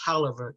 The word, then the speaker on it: Taliaferro: And yes, it is pronounced Taliaferro County.